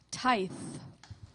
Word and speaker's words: tithe: Contestant, your word is tithe. Tithe. Tithe. Am I pronouncing it right?